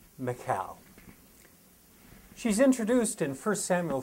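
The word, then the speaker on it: Michal: these Royal wives looks like and is often pronounced Michael but in Hebrew with more like Macau she's introduced in first Samuel 14 as the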